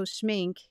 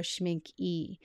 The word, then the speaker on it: Schmincke: people say schinka or schmink e but I believe it's a silent E is the way it's supposed to be I think in order to achieve high standards though with schmink they have all of